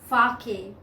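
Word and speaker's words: sake: had a cup of fake." The pronunciation is fake. It's given here. It's a Japanese word and SA is pronounced like FA in father and KE rhymes with way.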